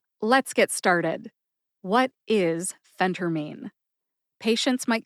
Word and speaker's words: phentermine: of being a pharmacist number one phenter mine number two Phentermine and number three the correct one Phentermine Phentermine has three syllables Fen like Fenway Park home of the Boston Red Sox the pro baseball team tur like the tur and sister and mean like somebody's being mean or rude to you mean put